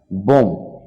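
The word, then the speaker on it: bomb: কোন কোন শব্দে বি লেটারটা উচ্চারিত হবে না সাইলেন্ট থেকে যাবে কম মানে চিরনি ল্যাম্প মানে ভেড়া টম মানে সমাধি থাম মানে বৃদ্ধাঙ্গুল বোম মানে বোমা লিম মানে অঙ্গ-প্রত্যঙ্গ ডেট মানে দেনা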